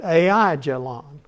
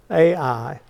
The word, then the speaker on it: Aijalon: You might have read it Aijalon, but they pronounce it, it's a diphthong, Aijalon.